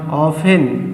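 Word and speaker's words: often: जाता है मतलब हमेशा ऑफेन इसमें टी साइलेंट है ऑप्शन मतलब अक्सर सोमेटाइम्स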